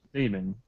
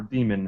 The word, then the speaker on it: daemon: Each person's soul is manifested into what they call a daemon, or demon, however you want to pronounce it. It's Daemon. And it's an animal for each and every person around.